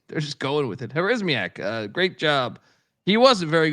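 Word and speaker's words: Harasymiak: Remember, how do I pronounce our guy's name again? Who's the UMass head coach now? Joe Harismiak. Yeah, Harismiak.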